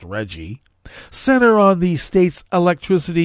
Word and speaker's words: RGGI: his concerns with Reggie the rggi is pronounced Reggie Center on the state's